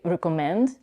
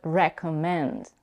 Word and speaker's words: recommend: we can't reduce the vowel e in the first syllable because we have a secondary stress there. So we don't say recommend, but recommend.